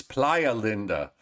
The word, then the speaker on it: Playa Linda: get the correct pronunciation it's it's Playa Linda apply a meaning Beach